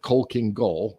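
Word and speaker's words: Khalkhin Gol: they uh were defeated at the battles of coal king goal and by the way if anyone's wondering that's spelled k h a l k h i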